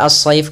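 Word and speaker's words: الصيف: Kemudian pada lafal as-shayf kembali sama, ada alif lam yang kita tulis tapi kita tidak baca, sehingga langsung kita idghamkan ke huruf shad.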